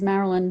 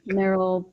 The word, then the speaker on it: Meryl: Don't worry, I went through the 4th grade as Marilyn, but it's actually Meryl pronounced just like Meryl Streep.